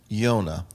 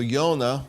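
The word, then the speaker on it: יונה: to time but it's jud vav and it's pronounced yonah now how do we say that jonah so yonah is a dove and so the yonah is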